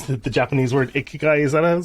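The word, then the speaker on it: 生き甲斐: know oh yeah my clients and i can't pronounce the japanese word ikigai is how you say it so so i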